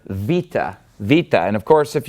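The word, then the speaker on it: Βήτα: would know this as beta but it's actually pronounced V and it makes a v sound like a V and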